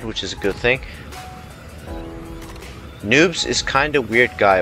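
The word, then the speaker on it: Neub: Neatzo, do you know who Noobs is? You? No, it's spelled N-E-U-B. Noobs. No idea why.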